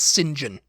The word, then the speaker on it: St John: know how you know to pronounce the surname St John on as singen singen SM yeah what